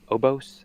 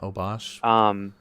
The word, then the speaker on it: Obosh: But I've been playing a lot of Rakdos Sacrifice with was it Obos? I can never pronounce that either. But yeah, Obosh.